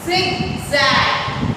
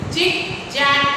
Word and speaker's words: zigzag: also, ma'am told you, zigzag नहीं बोलते. How we pronounce it? Zigzag. आपने कभी मधुमक्खी की आवाज सुनी है? उसकी आवाज कैसे होती है? हनी की. Isn't it? तो उसी तरह से zigzag.